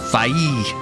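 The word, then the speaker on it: Faie: I will say they did try to make it original because it's spelled f a i e. So, it's Fae. Instead of just Fae.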